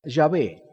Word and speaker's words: Jehová: término para no mencionarla algunos dicen que la pronunciación de Jehová Debería ser yahvé sin embargo creo que podemos por lo que he leído tener confianza de que el nombre de Jehová está bien pronunciado de esta forma Por qué los judíos